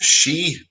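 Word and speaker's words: sidhe: John also said so say that so that's pronounced she it's pronounced s hitch EEE and she well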